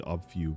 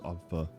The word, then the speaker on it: obfuscate: I thought it would be obfu, but it's obfa.